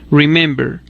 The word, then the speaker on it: remember: t otro ejemplo es el verbo remember que tiene tres sílabas y su acento no lo tiene en la tercera sílaba sino en la segunda sílaba no en la última remember así remembering queda escrito